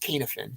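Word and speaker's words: Cynefin: about this is the canif it's called it's pronounced kanefen c-y-n-e-f-i-n k-n-f-n framework a gentleman named david snowden who was an ibm researcher uh put this out probably maybe 20 years ago if you google kanefen framework snowden like a short 10 minute video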